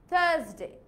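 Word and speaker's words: Thursday: আমি কি আরটাকে উচ্চারণ করেছি? No, just থার্সডে.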